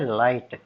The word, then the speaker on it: light: For example, in the word light, LIGHT, you simply forget about G. You don't pronounce G. You just say light, LIGHT, light. You don't say light, light. No, you don't pronounce like that.